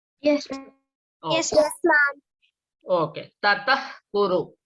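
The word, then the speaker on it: ततः कुरु: Tatah kuru. That means you have to pronounce it as aspirated one.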